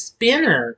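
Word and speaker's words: Spiner: accounts that's why I got a mispronouncing spider it's spinner spinner also played his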